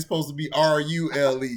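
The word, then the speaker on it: Rhule: It's supposed to be R-U-L-E. He supposed to be Rule, nigga. Not R-Who, nigga.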